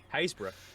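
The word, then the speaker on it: Happisburgh: Haysborough.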